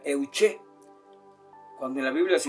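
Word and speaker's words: εὐχή: Y en la palabra griega para oración se pronuncia euché.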